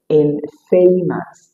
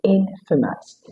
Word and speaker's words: infamous: You don't say infamous. It is infamous. You have a huge sound at the second and the final syllable.